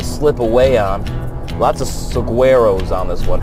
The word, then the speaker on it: saguaro: Lots of saguaros on this one. Hey, it's pronounced swaharos. Swahuros. Swaros. Pronounced swaros.